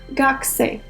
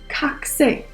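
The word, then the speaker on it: 学生: Koreans learning Japanese tend to mispronounce gakse as kakse, and that's because the phonetic rules of Korean prohibit the sound ga to be the first sound of a word.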